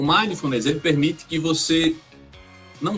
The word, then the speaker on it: mindfulness: Quase isso. Quase acertou. Mindfulness. É mais rápido.